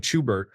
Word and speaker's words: Chubert: We often call him Chubert, pronounced almost like the German Schubert.